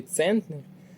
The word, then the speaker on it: центнер: наголос на другий а у слові центнер наголос на перший склад іде запитання ти правильно